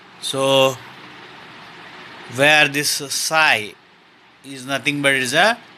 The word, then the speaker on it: psi: So where this psi is nothing but is a total wave function. It's a Greek letter and it is pronounced as psi, psi.